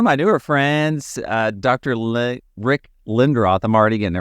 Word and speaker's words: Lindroth: If you're Swedish, which it is, it would be Lindroth. But no, Oh, that's fine. we've anglicized it to Lindroth.